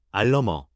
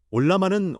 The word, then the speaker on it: Ollama: 알러머 올라마라고 읽습니다. 올라마는 오픈소스 AI 모델을 내 컴퓨터에 설치하고 실행하는 도구입니다.